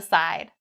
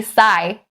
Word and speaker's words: side: Don't say sigh. Sigh. Not correct. Don't drop that D sound.